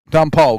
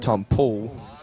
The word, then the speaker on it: Tom Poole: I believe, Glenn, that it's pronounced Tom Poole.